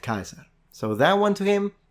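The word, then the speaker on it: Caesar: level of Education they would pronounced it Kaiser so that one to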